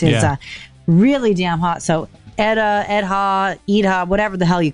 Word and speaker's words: Edha: So Edha, whatever the hell you call it, I'm in. Yeah, I think they're saying as far as my crack staff here can tell, they think it's pronounced Edda.